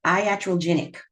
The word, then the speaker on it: iatrogenic: It is pronounced iatrogenic.